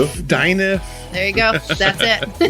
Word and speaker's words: Dineff: We have another interview, and it's, Megan Dineff. Said it right. Whoa. One of the few. One Dineff, of the few. Dineff.